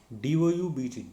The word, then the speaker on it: doubt: When B happens or B comes after M, such as thumb, and then when T happens after B, then also B is silent or B is silent. That is DEBT, det, DOUBT, doubt, SUBTLE, subtle, like that.